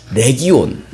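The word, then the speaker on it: λεγεών: 군대이 레지온이라는 단어가 있습니다 영어로 하면 리전이라고 하는데 헬라어로 하면 레기온 또는 내게온이라고 발음을 합니다 레기온이라는 단어는 당시이 군대에서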